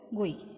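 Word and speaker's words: GUI: यूज कर सकते हैं जीआई इज प्रोनाउंसड एज गुई ठीक है जीओ आई गुई नाउ इजी टू लर्न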